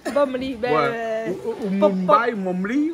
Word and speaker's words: bomli: C'est pas Mougli, c'est Bombli. Bomli.